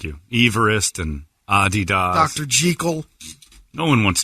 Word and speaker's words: adidas: me immediately stop breathing americans pronounce adidas wrong it's adidas no it's not adidas you were making this